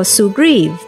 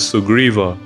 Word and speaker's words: Sugriva: the text is written to the best of our ability we will try to adhere to Sanskrit or sanskritam pronunciations so one you may